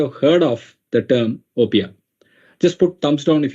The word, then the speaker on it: OPEA: into Opia right away we call it Opia op E A the pronunciation is Opia uh people call it in different ways but the right way that most of us call is Opia and it is from